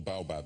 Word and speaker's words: baobab: Now, have I got the pronunciation right, first of all? Baobab, yes? You have.